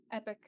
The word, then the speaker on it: epoch: Let's set the steps per epoch to be 100 and have it run for 6 epochs, right? Is that how do you pronounce it? Epoch? Epic.